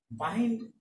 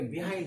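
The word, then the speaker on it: behind: বাহাইন্ড গঠিত হয়েছে by plus হিন্ড থেকে, হিন্ড থেকে, এটাকে সংক্ষেপে বলা হয় বাহাইন্ড। অনেকে আমরা এটাকে বিহাইন্ড বলে থাকি, আসলে এটা বিহাইন্ড না, এটা বাহাইন্ড উচ্চারণ হবে।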